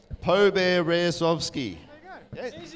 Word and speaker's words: Poberezovsky: So our event organiser, and he's given me the phonetic pronunciation of his surname, Alex Poberezovsky.